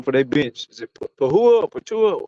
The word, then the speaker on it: Precious Achiuwa: Is it Patua? How you say his name? Precious Achiuwa.